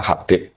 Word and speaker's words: Habib: Itu di harakatnya kitab itu ada yang nulis khubab. Lalu yang benar? Oh, nggih. Yang benar itu bacanya Habib.